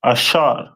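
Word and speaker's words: אשר: to Uruguay uh and their name is pronounced in Hebrew as asher a which ashar which means happy and the symbol is a royal dainties.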